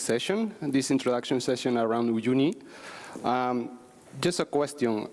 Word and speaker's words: Uyuni: And I think in the open source version it's called Uyuni, if I say it right.